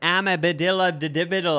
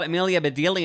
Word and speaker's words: Amelia Bedelia: books to myself, and I thought it was Amabedilla. Like I was pronouncing it this whole different way, but then I heard it was called Amelia Bedelia, and I was like,